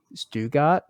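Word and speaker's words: Stuttgart: uh which I I'm I believe that it's actually pronunciated like stugart but it's one of those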